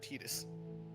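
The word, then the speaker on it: Tidus: It's uh I heard Tetus. I think it's also Tetus and KH first as well. I prefer Titus, but whatever.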